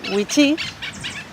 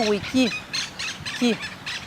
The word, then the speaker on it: Wichí: ver con los sonidos la palabra whitfield en la zona del bermejo se pronuncia wichi y en la zona del pilcomayo wiki la diferencia es que